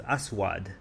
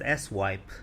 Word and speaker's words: Aswad: His name was Aswad, which they purposely pronounced as S-wipe, further strengthening my belief that I'm dealing with children.